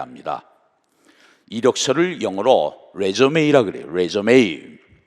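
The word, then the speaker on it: résumé: 이력서를 영어로 레이라 그래요 레메 사실이 단어는 영어가 아니고 프랑스어입니다 그런데 대어로 미국에서이 단어를 그대로 사용하고 있습니다 레메 그런데이 단어가 영어 동사로 쓰일 때는 발음이으로 져요 그리고 그 뜻이 달라집니다 뜻은 다시 시작 작한다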